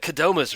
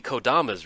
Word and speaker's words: Kodama's: It's like Kodoma's Reach, like it's KOD, Kodama's Reach, but I cannot break myself from that.